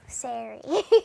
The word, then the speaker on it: Saree: Okay, so it's pronounced like Larry, but with an S, so Saree.